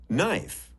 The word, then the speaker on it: knife: Knot, knife, knee. These are all Viking words. But somehow we have lost the first sounds, and now they are silent. Shh! But look, there is a pattern. A silent K comes in front of N.